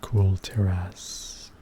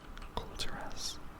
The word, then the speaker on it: Kul Tiras: See Lady Jaina Proudmoore of the Kul Tiras. Kul Tiras. Interesting name. Sounds like cool. Maybe it's pronounced Kul.